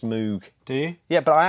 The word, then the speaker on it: Moog: to be manufactured by Moog is actually announced know what well see mogh the synthesizer is pronounced mo Wow but I think Moog the rocket parts company in the UK is pronounced Moog do you yeah but